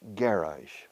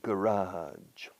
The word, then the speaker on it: garage: The British, garage. First syllable. You stress the first syllable. US and Canada, garage.